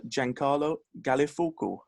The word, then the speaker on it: Giancarlo Gallifuoco: Giancarlo Gallifuoco. Gigi, first of all, how was that pronunciation?